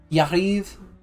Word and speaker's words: Jarivre: Jarivre. Well, you don't pronounce the last vowel. Jariv. Would it be Yariv?